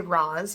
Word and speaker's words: Roz: myself as, because if you just say Roz, people don't hear it because it's one syllable and the S isn't very pronounced, and so they just don't hear it.